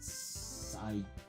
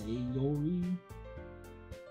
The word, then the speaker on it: Sayori: And it's not Sayori. It's Sayori.